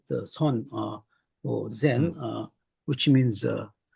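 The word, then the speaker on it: 선: the establishment of what you mentioned earlier is Zon, or better known as Zen philosophy. Yes, yes, yes. You said it right. The Son or Zen, Mm, which means meditation.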